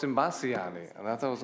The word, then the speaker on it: Imbasciani: Imbascaini. You know, did I pronounce it correctly? Imbasciani. Oh, it's Imbasciani.